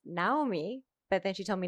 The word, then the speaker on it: Naomi: Although she did tell me that it's pronounced Naomi, but then she told me not to say it.